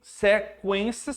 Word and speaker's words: sequência: E esse aqui, sequência, você tá pronunciando os dois, ó.